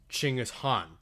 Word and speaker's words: Genghis Khan: talk about genghis khan they don't use the anglicized pronunciation of the name they use ching is han which is much closer to being correct in what would have been old mongolian at the time um just in general